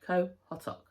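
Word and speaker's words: Qaqortoq: We went on a walking tour in Kotok, and the tour guide told us how to pronounce it. So yeah, Kotok, not how it looks at all.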